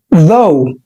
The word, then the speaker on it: though: وعندنا كمان 4 حروف على بعضهم اللي هو ال O U G H، دول على بعضهم بيتنطقوا O، زي كلمة though أو although.